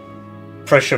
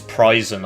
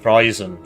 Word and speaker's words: Preußen: Prussia, by the way, is not the way it's said. It's Preußen or something. It's the way it's spelled is then it's this funky German letter, which is like a big B, but actually it's like SS. So it's like Preußen, something like that.